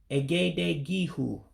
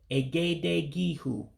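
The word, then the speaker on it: egedege ihu: But my pronunciation of the word forehead in Igbo would be Egede-Ge-Hu. Egede-Ge-Hu. Remember, the E's are pronounced as A's in Igbo.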